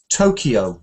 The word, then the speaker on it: Tokyo: Now, the correct stress pattern of those is not quite the same as you read it. It's like Tokyo.